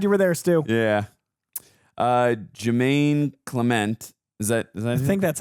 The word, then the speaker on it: Jemaine Clement: Jemaine Clement. Is that I think that's how you say it. Yeah, that's Jemaine Clement.